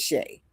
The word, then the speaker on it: Sha: Well, I Doctor. pronounce it Shay.